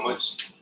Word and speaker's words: mu: Okay, the symbol is mu. M-E-W, mu. Or MU. Okay, but MU you may read as mu or Mumbai may just MU there. So this is how it is pronounced.